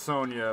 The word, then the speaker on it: Sanja: did Sanja Hogan I know it's Sonia but it's spelled Sanja who wants a glass